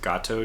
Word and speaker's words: Gato: ships I don't know I think it's supposed to be Gado but I will probably constantly pronounce it gato just because I know a little bit of Spanish and that's cat and Spanish but I think it's